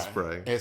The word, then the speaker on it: Sprite: Not no T on the end of that shit. Right. Sprite. Sprite.